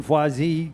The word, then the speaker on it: Foisy: Hey, I like that pronunciation. Foisy. Gotta love that name. Foisy, yeah, Foisy.